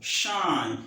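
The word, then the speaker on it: sinh: Now, the first one we consider here is uh y equal to It's pronounced shine.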